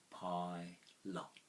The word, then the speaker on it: pilot: on your understanding syllables a pilot is two syllables pie lot pie a lot now the pie ends in an i sound now you could say